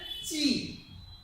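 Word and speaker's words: チャ: এটা আমরা শিখে হচ্ছে চি। সেম ভাবে আমরা লিখবো, এটা উচ্চারণটা হয়ে যাবে চা। চিয়া না হয়ে উচ্চারণ চা, চা।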